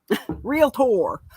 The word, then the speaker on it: realtor: to make a point you say the word realtor correctly realtor do you know how many people say realtor I do I I I'm like there's no vowel between the L and T why are you doing that it's not realtor it's